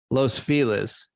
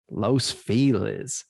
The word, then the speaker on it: Los Feliz: Everyone here says Los Feliz instead of Los Feliz. I would look at that and say Los Feliz, but isn't that? But they pronounce it here Los Feliz. Yeah, if you say it the other way, you're not from here. It's Los Feliz. It's Los Feliz. Yeah. Yeah, but the proper pronunciation is Los Feliz if you were in Spanish.